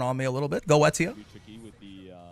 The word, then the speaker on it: Goetia: Goetia is correct. I mean, that's what the voice actor says, so I assume they told him how to say it. Now, I do like saying Gosha, just because it rolls off the tongue more, in my opinion.